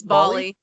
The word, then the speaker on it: Bali: It's Bali.